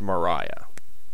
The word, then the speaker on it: Mariah: Great Council of wizards I think we know who Maria is although apparently it's pronounced Mariah I'm going to stick with Maria she has studied many